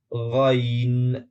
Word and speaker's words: غین: غین استعمال ہوتا ہے۔ یہ تلفظ تھوڑا مشکل ہو سکتا ہے، مگر اس کا صحیح تلفظ غا غا غین ہے۔ اس کے 4 مقامات